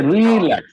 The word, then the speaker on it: relax: can you see yes so in verb we have to stress on second syllable can you pronounce all